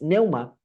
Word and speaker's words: pneuma: La pneuma, que no se pronuncia la P, es neuma, es básicamente espíritu o aliento vital que todos tenemos.